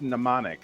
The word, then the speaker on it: mnemonic: now ah that's pronounced mnemonic mnemonic okay the M is silent I only know this